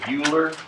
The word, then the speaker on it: Euler: It looks like it's spelled Euler, but it's actually pronounced Euler. It's a French name, I guess.